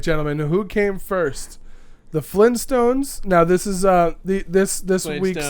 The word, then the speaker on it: Flintstones: I always did Flynn with no T, and it's Flintstones.